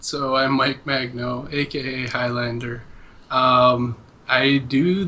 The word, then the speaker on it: Magno: gracious gracious gentlemen we have Mike is it Magno is that how you pronounce it yep all right Mike Magno Highlander